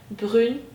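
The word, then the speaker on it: brune: geliyor farkındaysanız BR esmer Yani bir erkeğe esmer diyecekseniz bran diyorsunuz bir kadına esmer diyecekseniz brün diyorsunuz farkındaysanız telaffuzda çok şey değiştiriyor Aslında o tek e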